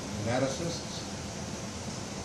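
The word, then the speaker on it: pneumatocyst: Nematocysts. What's it called? Nematocyst. With a P, a silent P at the front.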